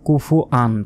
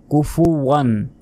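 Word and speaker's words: كُفُوًا: আমরা অনেকে এখানে ভুল বলি যে কুফুআন, কুফুআন নয়, কুফুওয়ান। অবশ্যই এইভাবেই উচ্চারণ করতে হবে।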